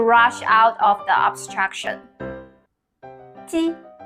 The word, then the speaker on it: 鸡: It is a sound formed by the front of tongue against the front part of your hard palate. As the picture shows. Let's start our first one. 鸡.